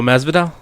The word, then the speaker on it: Masvidal: Oh, Masvidal.